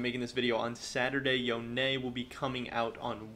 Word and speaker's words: Yone: and most important thing his name is yonei it's not yon it's not whatever else you pronunciation you want riot has officially announced that it is yo-nay so make sure you